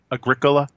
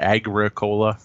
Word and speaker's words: Agricola: I think it's supposed to be Agricola. Agricola, I think, is the proper term. I probably should have been trying to pronounce that right. Not Agricola, because we're not growing coke.